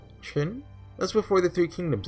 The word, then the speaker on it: Qin: I believe Q is Ch. Qin? That's before the Three Kingdoms era, wasn't it? Does that mean it even predates Shang Yu and Liu Bang? That's right. The Qin Dynasty was a major empire around 200 BC.